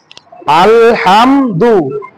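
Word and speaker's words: الحمد: যুক্ত আমরা করি দেখি আলহামদু আমরা যুক্ত করতেছি আল হামদু আমরা বাংলায় এটা উচ্চারণ করতে পারি এখন লিখতে পারি সরে আর ল ল যেহেতু সাকিন যুক্ত জজম আছে এজন্য আমরা হসন্ত দিয়ে দিলাম আল তারপরে হাম জিমে যেহেতু সাকিন জজম হসন্ত আলহাম দু মাশাল্লাহ খুবই সহজ তারপরে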